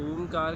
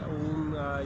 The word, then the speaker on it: ओम: आप उच्चारण करते हैं 3 वर्डों से बना हुआ है, आ, ऊ और मा। पहला वर्ड है आ, दूसरा है ऊ और तीसरा है मा।